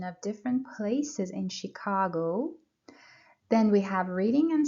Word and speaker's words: Chicago: Please pay attention to the stressed syllable. Chicago. The stress is on the second syllable. به stress به بخشی که stress داره توجه کنید. بخش دوم. Chicago. Please repeat after me a few times. Chicago. Chicago. The pronunciation of CH at the beginning of the word, it's sh, sh, Chicago.